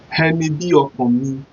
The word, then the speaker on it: ẹni bí ọkàn mi: Ẹni bí, just like B. Bí ọkàn mi. So how do we spell it? Henny spelled E-N-I. B-I. Hokan. O-K-A-N. Hokan. If you see the way I pronounce it, the O and the K-A-N sound out of the Hokan. Hokan. Hokan. Then the last letter there is me. M-I. Me.